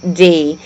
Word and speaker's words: Bludstaind: So it's not blood like, blood off, if you cut yourself. That's the only, it's blood, Bludstaind.